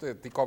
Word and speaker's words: Tycho: porque lo que hizo Tycho Brahe fue, ya iba a decir Chico Brahe, lo que hizo chico Tycho Brahe. El chico Tycho Brahe. Es que se escribe Ticho, ¿no? Ticho. Sí.